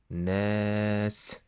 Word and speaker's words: الناس: برب الناس. برب الناس. There is noon here with shadda. You should double the noon, and after that you should stretch this fatha.